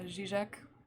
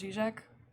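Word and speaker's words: Žižek: obviously i know uh zizek i'm pretty sure that's pronounced g-shack that feel when you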